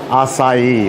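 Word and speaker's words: açaí: and there's a chi ice cream but it's pronounced acai or close to that but it's a wonderful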